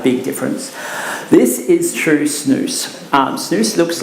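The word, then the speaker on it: snus: Zen now that is snoo by the way always remember it rhymes with moose um and Zim now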